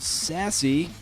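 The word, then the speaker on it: SASE: she's the founder of sassy uh it's spelled s a e like self addressed stamped envelope who remembers those baby uh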